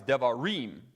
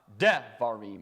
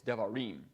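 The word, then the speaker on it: דברים: The last syllable is always the stressed syllable unless he tells you otherwise. So that's why it's devarim, not devarim or devarim. It's devarim.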